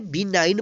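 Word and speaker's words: benign: दयालु या हानि रहित तो यहां पर वेडिंग नहीं पड़ेगी क्या पढेंगे बिनाइन पढेंगे यहां पर देखिए लास्ट में ऐड नहीं और इनसे पहले क्या है जी है एन से पहले क्या है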